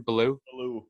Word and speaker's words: Bellew: He's got 1 loss on his record, and he lost to Tony Bellew. How do you say his name? Bellew?